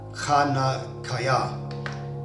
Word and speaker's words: Hanukah: Hanukah, pronounced Hanukah.